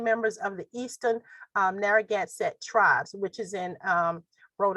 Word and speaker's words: Narragansett: native americans there and the name and let's pronounce this right narragansett s i t refers to both the people